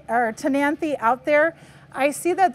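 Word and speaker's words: Ctenanthe: is called tany okay it starts with the ca the SE is silent so this is tany this one is sosa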